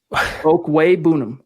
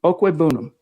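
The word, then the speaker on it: Okwuegbunam: Albert's name is pronounced Okwebunam. Okwebunam.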